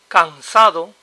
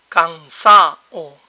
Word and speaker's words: cansado: When People talk Fast the between vowels is weak or disappears alt together first example all to to May sound to o to tired cansado cansa o cansa Nothing nada na a na